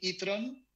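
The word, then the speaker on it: e-tron: es el patrón cerrar el nombre como suena en español así se llama audi e tron se escribe e tron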